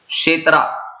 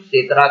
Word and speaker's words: क्षेत्र: क्षेत्रा, KSHETR, क्षेत्रा, बस यहाँ पे के साइलेंट हो तो हम सिर्फ क्षेत्रा कहेंगे।